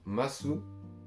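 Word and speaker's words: ます: Là ensuite, on va voir la forme masu, ou mas, du coup comme on ne prononce pas le ou à la fin, vous avez capté, mais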